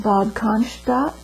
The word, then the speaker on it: Bad Cannstatt: And I went to the hospital at Bad Cannstatt. And that is spelled B-A-D-C-A-N-S-T-A-T-T.